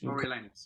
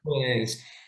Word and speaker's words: Coriolanus: But another one as well, you mentioned I can't always pronounce it. Coriolanus. Coriolanus is Coriolanus, yeah. Coriolanus.